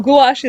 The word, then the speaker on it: gouache: dictionary from Cambridge and here is how it stated in the UK eyelash and in the u.s. a wash so gouache it is anyhow it